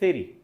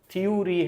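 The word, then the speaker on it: theory: जैसे हम थ्योरी पढ़ते हैं, राइट प्रोनाउंसिएशन इज थेरी। एक तो टी एच को सा पढ़ना है, सा सॉफ्ट साउंड, से री, थ्योरी है ही नहीं लेकिन हम पढ़ते हैं।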